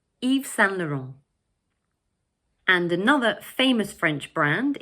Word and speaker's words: Yves Saint Laurent: And the third word is pronounced 'Laurent'. So all together we say 'Yves Saint Laurent', 'Yves Saint Laurent'.